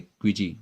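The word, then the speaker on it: queasy: तो देखिए, इसे आप इसका प्रोनाउंसिएशन ही है क्विजी, बोलते भी हैं क्विजी। तो क्विजी as like क्विज, as like क्विज आप।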